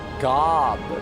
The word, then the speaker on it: Gob: Yes, like Job from the Well, no. This one is spelled with a G actually, guys. Come on. Gob, my mom is a lot like the mom from Arrested Development.